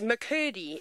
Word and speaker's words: McCurdy: you that don't know my surname is mccurdy and rhymes with her Dee and I was once